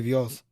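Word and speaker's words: Boas: said lopez v-o-a-s b-o-a-s if it's spanish it's like the bees are pronounced with the v almost so it could be vios well i don't i'm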